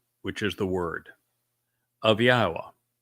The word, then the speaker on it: Yahweh: Then the debar which is the word of Yahwa, not of Hashem, not of Jashi, not of Adoni, of Yahwa.